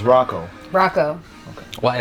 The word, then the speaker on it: Hracho: bytes how do you say your last name borracho Rocco Rocco yeah Sam I was already gonna mess